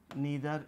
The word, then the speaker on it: neither: नीदर या नाइदर दोनों pronunciation both are equally correct.